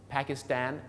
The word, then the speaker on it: Pakistan: ิ แล้ว ก็ แี Stand do you understand Pakistan afghanistan Uzbekistan นี่ ก็ คือ ออก เสียง สตน